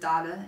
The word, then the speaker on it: Dale: Sue's middle name Norwegian I'm pretty sure you pronounce it Dada in Norway in Norwegian but she always says Dale because she's American and we're American and